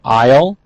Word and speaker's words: aisle: Of nouns, we have aisle. Notice A-I-S-L-E, but the S is silent.